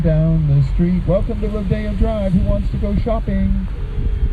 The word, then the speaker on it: Rodeo Drive: Rodeo Drive. Sometimes mispronounced Rodeo Drive.